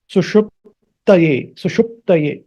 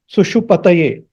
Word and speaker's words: सुषुप्तये: And this, there is a pa, half pa. Pa has to be just touched. That sound is to be just touched. Suṣuptaye, not suṣupataye.